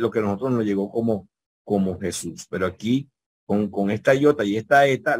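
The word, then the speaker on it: Ἰησοῦς: y Jesús y Jesús acuérdense que les dije que la combinación o micron yuxilon bien la combinación o micronutsun produce un sonido unísono verdad de una sola vocal que es la como la u en español y es súper en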